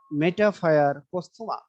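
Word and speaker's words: Metaphire posthuma: কেঁচোর সায়েন্টিফিক নেমের উচ্চারণটা সবাই একটু শিখে নাও। মেটাফায়ার পোস্থুমা, মেটাফায়ার পোস্থুমা, এটা হলো কেঁচোর সায়েন্টিফিক নেম।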